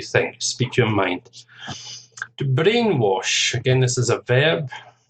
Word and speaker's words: brainwash: to speak your mind brainwash two syllables based on the first syllable brainwash a brain child brainchild